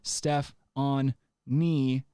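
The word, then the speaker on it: Stefonknee: with the transgender product stephanie pronounced steph on me watched age 52 of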